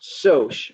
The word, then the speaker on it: Socs: by the way so the socs that you see in there is pronounced soch because it stands for social but i'm fully accepting